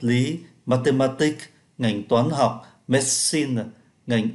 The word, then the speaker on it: medicine: mathematics, ngành toán học, medicine, ngành y học, sociology, xã hội học. Medicine là y học, chúng ta không phát âm ký tự ơ giữa.